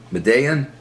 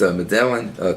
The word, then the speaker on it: Medellín: in medallion Colombia when I probably pronounced it wrong ellos medellín or medallion and what the anglicized the spelling so that the two L's become an L or Y anyway it's medellín Colombia would a work of